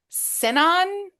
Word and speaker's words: Sinon: over the casting of Ellen Elliot Page as Sinon. I think I'm pronouncing that correctly.